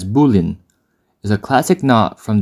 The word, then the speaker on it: bowline: number two Boling KN the Boling pronounced somewhat counterintuitively as bullin is a classic knot